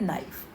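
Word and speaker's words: knife: लेकिन बच्चों जब इसको बोलते हैं तो हम के साइलेंट होता है, इसलिए इसको पढ़ते हैं नाइफ, और स्पेलिंग में के लिखा जाता है।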